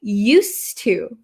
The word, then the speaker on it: used to: I used my phone however here the pronunciation changes a little bit okay used to used to to so this D kind of disappears because it's followed by a t used to and